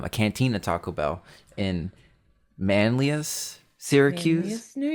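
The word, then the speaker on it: Manlius: Um a cantina Taco Bell in Manlas Syracuse. New York. It's Manlas. That's how that's how it's said.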